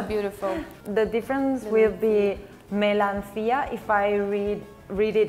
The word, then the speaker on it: melancia: in portuguese we say melanchia melancia sounds like melon but with a feminine touch that's what it is